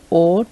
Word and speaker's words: au: which means at, in or to. Okay, so now when we conjugate the preposition a with le, le, our definite article le, this becomes, after contraction, o. The pronunciation is o, which becomes at the, in the or to the.